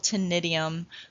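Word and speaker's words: ctenidium: they're not really lungs they're called tinnitum the c is silent this structure is used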